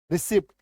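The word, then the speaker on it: receipt: रिसीप्ट ये देखो रिसीप्ट actual में यहां पे पी साइलेंट है।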